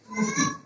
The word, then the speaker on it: অতি: তাহলে অতি শব্দের মধ্যে রসই আছে, রসির আগে অ আছে বিধায় সেই অ উচ্চারণে উকারে রূপান্তরিত হবে। অতি এর উচ্চারণ হয়ে যাবে উতি। উতি।